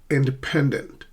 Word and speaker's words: independent: Independent. Independent, not independent, not independent, but independent. Independent.